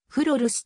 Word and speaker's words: グロールシュ: アサヒグループホールディングス傘下オランダ語では風呂ルスと発音する社名はフル運動